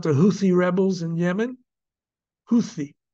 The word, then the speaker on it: Houthi: Houthi. That's well, it's spelled TH. They're not Houthi, but Houthi.